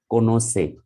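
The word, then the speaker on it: connoisseur: that is pronounced as konosei and that is gov or government but r is not pronounced any idea okay what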